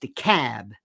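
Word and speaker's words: DeKalb: County not deal de capital K lb is pronounced the cab the Cab County all right that's like when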